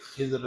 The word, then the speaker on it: خضر: غلط فہمیاں ہیں کہ خضر علیہ السلام کون تھے. میں نے عرض کیا کہ ان کا اس کا درست تلفظ خضر ہے، لیکن خضر بھی خضر خا پہ زبر، ضاد پہ زیر ہے اور را کے ساتھ،